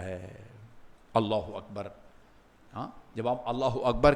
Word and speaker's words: اللہ اکبر: ہاں صحیح بتائیں کیا سب اس طرح تلفظ کرتے ہیں؟ الحمدللہ الحمدللہ الحمدللہ. کوئی پتہ نہیں چلتا، وہ بس وہ یہ حمزہ جو ہے وہ غائب ہو جاتا ہے.